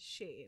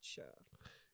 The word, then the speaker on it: Sher: And she's pronounced as Shay, not Sher. And ladies and gentlemen, that brings us to the end of the episode. And Sher sings also.